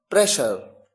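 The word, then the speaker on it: pressure: यहां पर एस के साथ एच नहीं आया, डबल एस आया है, लेकिन प्रोनाउंसिएशन में शलगम वाला श है। पैशन, प्रेशर, अच्छा, अब देखिए एशिया।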